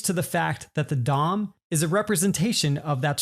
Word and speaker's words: DOM: reduced to the acronym of Doom which is pronounced Dom so if you like the Dom is a